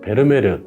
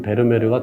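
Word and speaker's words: Vermeer: 네 많이 알려진 그림이죠 베르메르 또는 페르메르라고도 하는데요 네덜란드 발음인 베르메르가 더 부드러워서 오늘은 제가 베르메르라고 호칭을 하도록 하겠습니다 베르메르는 렘브란트와 더불어 17세기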